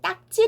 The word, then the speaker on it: 딱지: 여러분 , 이것 은 " 딱찌 "(ttak-jji) 라고 발음 합니다 . ' ㄱ ' 다음 에 오는 것 은 무엇 입니까 ? 발음 이 긴장 된 소리 일 때 . 무슨 일 이 일어날까 요 ? 원음 그대로 의 소리 를 사용 하여 작성 해야 합니다 . 그러므로 발음 은 " 딱찌 " 이지만 , 표기는 " 딱지 " 로 해야 합니다 .